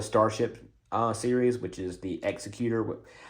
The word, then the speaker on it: Executor: We have a part of the unofficially part of the Starship series, which is the Executor. It's spelled the same, but it's the Executor.